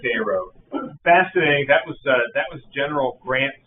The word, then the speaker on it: Cairo: Cairo, Illinois is very fascinating. I know they pronounce it Cairo. Yeah. Locally they call it Cairo.